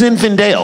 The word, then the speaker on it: Zinfandel: mama Stila boxes infidel for your arms it's pronounced Zinfandel right hey if it's in a box it